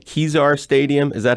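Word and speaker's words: Kezar: of people on there first make sure I'm pronouncing it right kizar stadium is that how you pronounce that place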